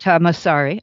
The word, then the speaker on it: Tom Masari: No, so how did you, after that, you did, I guess you somehow connected with the person who, Tom Masari, is that how you say it? Tamasari, uh-huh.